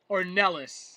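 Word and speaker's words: Ornelas: For the Wilson War but the brother's name is Jonathan Orn Ellis is the correct pronunciation.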